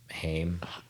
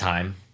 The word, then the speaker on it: Haim: of the singers from Haim yeah okay hi it's Heim I think so yeah I don't know how to pronounce it um yeah so neither